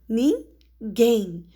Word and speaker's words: ninguém: Olha, ninguém, você fala ninguém. O som gen é mais forte.